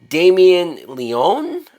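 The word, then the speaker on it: Damien Leone: 2022 film that was written and directed by Damien Leon that's how you say his name now what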